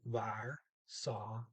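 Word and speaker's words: var så: slow it would be var saw but here's the new thing you got to learn anytime you see an r and an s together it makes an sh you don't pronounce either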